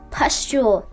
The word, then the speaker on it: pustule: Also, I apologize. Pustule. It's pustule. Just remember that, future me.